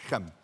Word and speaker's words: Shechem: last month in shechem they call it it's one syllable Shem can you say that